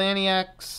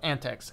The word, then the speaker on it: antiX: okay quits the coincidentally I've installed an TX or ain't antics I'm going to try to call antics antics that's what the developers call it in an aging laptop